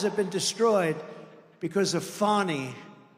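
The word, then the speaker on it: Fani: been destroyed because of fonnie f a n i fonnie you have to pronounce it fonnie it's called Fanny you have to pronounce fonnie I don't know how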